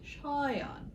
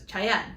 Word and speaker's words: Shayan: His name, if you pronounce it correctly, is Shayan. He has an aleph in there, the A, the elongated A.